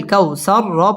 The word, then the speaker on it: কাউসার: পড়তে হয় ইতনা কাল কাওয়া ঠোট গোল করে উচ্চারণ করতে হবে কাউ জবরের বাম পাশে জমলা হরফ তাড়াতাড়ি পড়তে হবে কাল কাউ সর পুর হবে এবং ওয়াকফ করতে হবে নাকাল কাউসার ইন্নাকাল কাউসার